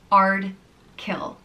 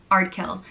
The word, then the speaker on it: Ardkill: The next name is Ardkill, and it means from the high church, and it's pronounced just as it's spelt, Ardkill, Ardkill.